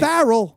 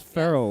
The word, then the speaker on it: Ferrell: i've been pronouncing it so i was right barrel not farrell like there's no a in his name guys there's an it's an e so it'd be will ferrell if anything well none